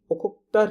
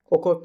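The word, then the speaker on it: Okhotsk: Russia की ओखोत्स्क river, ठीक है, ये रशियन नेम्स है, थोड़ा सा इनका प्रोनाउंसिएशन ऐसा सही है।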